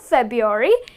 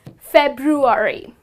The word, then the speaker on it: February: people end up saying February but it's not February it is February so make sure that you add the letter R means you pronounce the letter R when you're saying this